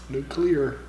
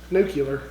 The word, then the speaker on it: nuclear: how it's it's not that's not how it's pronounced like what do you mean it's nuclear like no no nuclear nuclear you